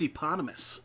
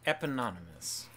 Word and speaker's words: eponymous: Da Bar with eponymous. Eponymous. This is not how you pronounce it. No, not even close. It's eponymous.